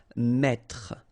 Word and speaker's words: mettre: That's the reason why you will pronounce mettre, mettre. Don't insist on the final E.